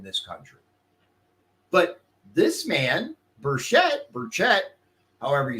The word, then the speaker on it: Burchett: But this man, Burchett, however you say his name, how do you think it is, you said?